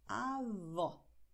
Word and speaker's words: avó: Großmutter heißt Avó und Großvater heißt Avô. Siehst du? Avó offen, Avô geschlossen.